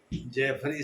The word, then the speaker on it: Jeffrey: जेफरी का आप लोग स्पेलिंग समझ ही लेंगे, JE लिखिए, FFREY, जेफरी सैक्स, SACHS। या कुछ लोग JA भी लिखते हैं, लेकिन JE ज़्यादा अच्छा रहेगा।